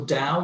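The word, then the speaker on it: DAOU: How do you spell it? What is that? It's so Dow, D-A-O-U Vineyards, and the wine is a Cabernet called Soul of a Lion.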